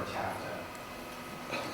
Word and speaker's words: TAFTA: So, the Trans-Pacific Partnership and then the new EU partnership called, it's called TTIP, or TAFTA, continue to rhyme with NAFTA, right?